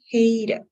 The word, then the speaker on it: hated: So since it ends in a T sound, then you still have to pronounce everything. Hated.